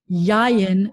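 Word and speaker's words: יין: But the other pattern where the accent is going to be on the first syllable is if you see in these two vowels specifically with the yud in the middle, an ayeh pattern. So like yayin is wine. And zayit is an olive, and bayit is house.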